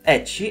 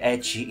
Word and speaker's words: ecchi: presa appunto da Wikipedia eci è una parola giapponese che deriva dalla pronuncia del nome inglese della consonante h quindi h ed è sinonimo di